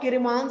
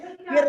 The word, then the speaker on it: crayons: आप बॉक्स लिखा है, किरमांस में किर नहीं है, यहाँ पे छोटी मात्रा की और आप बोल रहे हो। CRA है, इसको क्रे बोलते हैं, किर नहीं बोलते हैं।